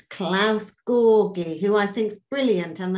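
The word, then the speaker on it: Georgi: It's Klaus Gorgi, because the G isn't pronounced G in German, it's G. So it's Gorgi, like George, you know, my friend in Berlin, he is called Georg.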